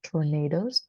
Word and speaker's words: tornadoes: yes um so first it's pronounced tornadoes okay so the stress is placed on the na so tornado and um this is